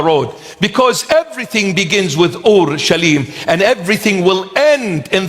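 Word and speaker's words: אורשלם: In Aramaic, the proper pronunciation of the word is Ur-Shalim. Ur-Shalim. And we abbreviate it and we call it Orshlim.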